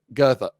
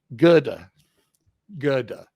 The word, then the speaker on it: Goethe: That's I even listened to the pronunciation of his name, but it's Goethe, Goethe.